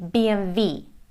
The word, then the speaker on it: BMW: Again, it's a German brand and they say BMV, but BMW in the US and Great Britain.